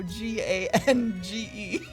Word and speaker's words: Gange: We're gonna go Gange. Like the Ganges.